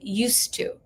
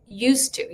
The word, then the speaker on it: used to: this is kind of the pronunciation of this is weird because it kind of goes like used to used to. You kind of lose that D and that T kind the T that belongs to two kind of gets stuck together.